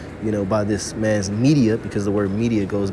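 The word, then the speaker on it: Medea: in a hypnosis you know by this man's media because the word media goes back to the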